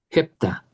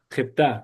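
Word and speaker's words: ἑπτά: Eh, hepta. No, Casi. hepta. Jeptá, correcto. El acento cae en la alfa.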